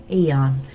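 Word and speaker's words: Aeon: for is in the do I pronounce it on or Aon Mall? on Eon the Eon Mall in Yachio.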